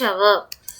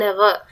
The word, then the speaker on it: hour: My father returned after dash hour. Okay, here the letter H is silent. That's why it is giving vowel sound. So we can use article an. My father returned after an hour.